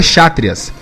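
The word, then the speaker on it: Kshatriyas: nós temos os chakras neo escrito khachatryan mas se pronuncia xátrias são os guerreiros os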